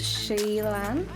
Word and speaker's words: SheilannO: Hi everyone, I'm SheilannO, pronounced Sheillann.